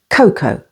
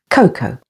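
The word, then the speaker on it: cocoa: with the letter A A is silent before or after another vowel like in the words Coco and head say the words after me Coco notice the stress is on the first syllable Coco and head B can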